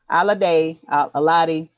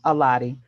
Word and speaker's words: Alade: Johnny y'all check out Johnny by Yemi Alade. I think. The people at work used to let me call them Aladi. So I don't really, but she pronounces it Alade.